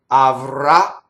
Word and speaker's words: avrà: Avrà. So words that end on a last syllable stress usually cause a doubling.